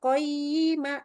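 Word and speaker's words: قَيِّمًا: H maka bacanya qoyima itu harus ada tetap di sini suaranya. Jadi qoyima qoyima gitu ya.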